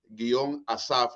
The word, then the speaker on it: Asaph: mi música la puede encontrar en Spotify bajo el nombre Asaf. Asaf se escribe estilo inglés ASAPH.